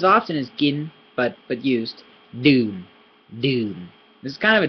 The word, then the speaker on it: ดื่ม: Deum. This is kind of a tricky word to say. I think the it's kind of a tricky sound to make. So deum. It's a low sound. Deum. It's tricky.